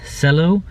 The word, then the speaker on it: Celo: going to go over today is pronounce cello c-e-l-o but the ticker symbol is